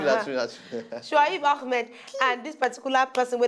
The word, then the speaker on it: Ahmed: Because that's the correct pronunciation, Ahmed.